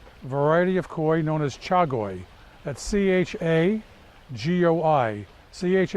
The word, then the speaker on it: chagoi: was one particular variety of koi known as chagoi at CH a GOI CH a cha is